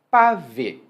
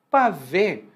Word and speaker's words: pavê: disso é o seguinte: pavê parece uma forma muito informal de se dizer para ver o o verbo, né, com a preposição.